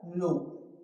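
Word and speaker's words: know: और देखो इसकी स्पेलिंग है के एन ओ डब्ल्यू। के एन ओ डब्ल्यू लेकिन इसे पढ़ते हैं नो।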